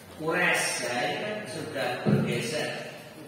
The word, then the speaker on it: Quraisy: Nah, di sini pengucapan Quraisy ini sudah ro lentur layin Quraisy. Nah, ini cara pengucapannya.